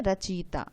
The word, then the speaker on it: रचयिता: तो यहाँ हमें उच्चारण भी अपना यही रखना है, रचयिता, जिससे हम जो हिंदी भाषा है वो जो बोली जाती है वही लिखी जाती है।